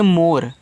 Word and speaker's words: more: MORE को पढ़ते हैं मोर। तो यम से माँ, ओ से ओ की मात्रा मो, आर से रा, लास्ट वाली ई का उच्चारण होता नहीं, तो मोर का मतलब होता है आपका यहाँ पे अधिक।